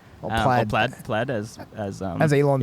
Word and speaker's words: Plaid: is to be better than the model s played plaid as as as elon says he's definitely saying